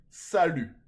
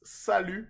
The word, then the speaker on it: salut: friendly way would be salute okay repeat after me salute I think you know this one but if you didn't it's salute and the t is silent which means hi okay